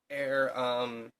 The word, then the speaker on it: Ere: about the air no it's spelled ER e like air like Shakespearean language like